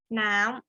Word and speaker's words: น้ำ: กัน ค้า นะ คะ ถ้า เรา ดู จะ รูป มัน น่ะ น้ำ ก็ คือ จะ เป็น อย่าง นี้ ใช่ ไหม แต่ ถ้า เรา ออก เสียง จริง ๆ แล้ว จะ ออก เป็น เสียง ตัว ยาว ก็ คือ น้ำ เรา จะ พูด คำ ว่า น้ำ แต่ ว่า ถ้า เรา ไป ดู จาก เสียง นี้ ก็ คือ มัน เสียง สั้น เนาะ ก็ คง จะ